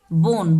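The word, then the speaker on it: bone: है तो हम इसको बोन पढ़ेंगे ठीक है बी ओ एन ई बोन last में ई जो है तो ई का हम उच्चारण नहीं करते हैं हर एक वर्ड में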